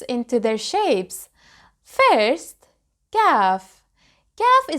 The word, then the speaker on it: Kaf: Kaf is pronounced just like the letter K in English.